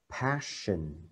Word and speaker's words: passion: ghi là ok thì cuộc khổ nạn là Passion Ok bạn nhớ đọc chữ sân nặng vợ